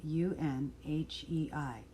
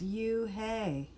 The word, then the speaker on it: Unhei: "It is spelled Unhei. It's pronounced Unhei." "Oh, it's you-hey," said a boy. "Like you. Hey.